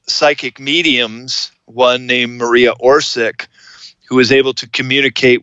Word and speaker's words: Orsic: But I believe it's more like Orsic.